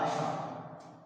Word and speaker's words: আষাঢ়: এই আষাঢ় শব্দটি আমরা উচ্চারণ লিখব আ তালব্য ষ আকার ঢয় শূন্য র আষাঢ়।